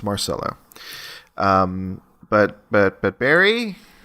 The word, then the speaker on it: Marcelo: definitely correct I go no it's not it it's Mar solo um but but but